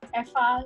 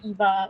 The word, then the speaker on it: Eva: i'm not local malaysian the correct way to pronounce my name is effa but nobody seems to get it how to pronounce my name so just simply call me eva i'm currently studying actual